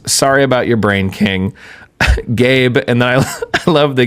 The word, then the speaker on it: Gabe: Gabe, and then I love they give a pronunciation key, and it just says, pronounce like the word gay, then you add a B sound. Wow. Thank you, Gabe.